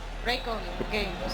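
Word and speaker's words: Reikon Games: Raycon Games.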